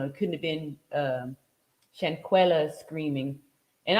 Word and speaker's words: Shanquella: couldn't have been um shankuela screaming and I apologize for pronouncing her name incorrectly um those last few days but um somebody corrected me Shan cuella all right shankuela Robinson that's who we